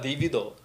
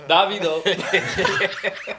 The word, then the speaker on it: Davido: of the thing, um, how was, uh, DVDo? Is that Am I saying it right? Davido.